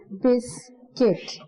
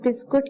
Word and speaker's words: biscuit: सबसे ज़्यादा जो mistake सुनने में मिलती है वो नंबर 6 में है, ठीक है। अक्सर लोग बिस्कुट कहते हैं, बट इट्स नॉट बिस्कुट, इट्स बिस्किट, okay.